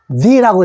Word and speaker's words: the: 모음 앞에는 the라고 읽습니다. 근데 제 혓바닥이 좀 이상하죠? the. 우리나라 말에는 그냥 the 하면 되는데 영어에는 요 th가요. 요런 소리입니다. 요렇게. 요런 발음 기어나요.